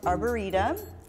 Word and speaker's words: arboretum: It's pronounced Arboretum.